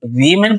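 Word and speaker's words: women: इसमें एक वर्ड है वीमेन, तो जब ये प्लूरल फॉर्म में होगा इसको हम वीमेन प्रोनाउंस करेंगे, और जब ये सिंगुलर फॉर्म में होगा इसको हम पढ़ेंगे वुमेन वुमेन।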